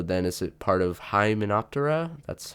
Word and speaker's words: Hymenoptera: So then is it part of Hymenoptera? That's how you pronounce it.